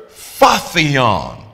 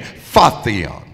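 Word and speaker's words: phortion: ye your own burden it's the word faon that's spelled p h o r t i o n faon and it means to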